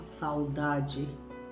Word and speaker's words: saudade: E o contrário do acento na palavra U, se eu retiro, tem a palavra saudade, normal, saudade. Eu pronuncio ela normalmente.